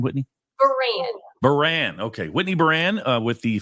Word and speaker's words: Burran: is a young lady Whitney how do you pronounce the last name Whitney ban Baran Okay Whitney ban with the family crisis center